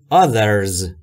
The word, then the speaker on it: others: در مورد تلفظ TH در other دقت بکنید که حالت دوم تلفظ TH هست و زبون شما پشت دندونهای بالا قرار میگیره و سعی میکنید بگید زهره، زنبور.